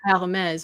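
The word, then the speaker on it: Hermès: So the H in French is always mute, Silent. actually, which is why you don't say Her. Hermes, right?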